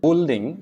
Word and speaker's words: building: it's this kit biscuit building it's build building is building the u is silent building circuit circuit the